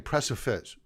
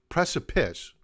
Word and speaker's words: precipice: precipice of a breakout i keep saying press a fizz i know that i always said it right i can never get that word right except when i do it by accident press a piss there we go press